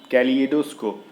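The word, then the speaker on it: kaleidoscope: कैलिडोस्कोप ये एक अलग मतलब गलत वर्ड मतलब प्रोनाउंसिएशन है, और कहते हैं कैली ये, अब यहाँ से ली ए करके जो प्रोनाउंसिएशन कर रहे हैं ना, वो चीज़ सही है, कैलिडोस्कोप।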